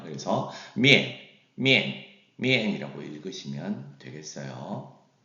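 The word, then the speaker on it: 面: 그래서 미엔이라고 읽으시면 되겠어요.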